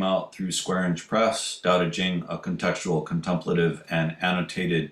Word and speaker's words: Dàodé jīng: So spelled with a T and a CH in the earlier Wei Zhao's romanization, but still pronounced Dao De Jing, the scripture on the Dao and inner power.